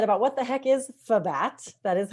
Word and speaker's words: FBAT: a little bit about what the heck is FBAT, that is how we pronounce it.